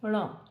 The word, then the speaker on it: ण: ण होता है इसका जो प्रयोग होता है, इसका जो उच्चारण है वो ण होता है। आपकी जो टंग है वो ऊपर की तरफ टर्न होगी, ण ण।